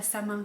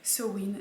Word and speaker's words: Samhain: win donc ça ne s'écrit ça ne se prononce pas sa main comme je lé prononcé dans la dernière vidéo mais se ruinent donc c'est le sabbat de halloween pour le